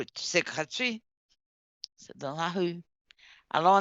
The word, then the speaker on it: gratuit: Réponse euh Ren gratu gratuit. Oh, c'est gratuit. Gratuit. C'est c'est l'été final. Or, la consoonne finale généralement ne prononce pas en français.